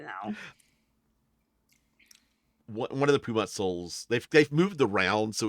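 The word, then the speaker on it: Sol: Perhaps the witch will know where to find the soul. I mean, isn't Mr. Soul in Rex Syndrome right now? Mr. Pumat Soul? Soul. Soul. There we go. It's pronounced soul.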